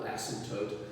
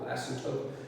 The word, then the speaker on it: asymptote: what constitutes a vertical asymptote and how we locate them, but I just want to quickly show you what they look like. A vertical asymptote, there's a P in there that's hard to pronounce, is an imaginary vertical